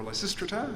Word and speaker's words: Lysistrata: And then Lysistrata, also, or Lysistrata, I think it's better pronounced, and now The Gospel of Mary Magdalene.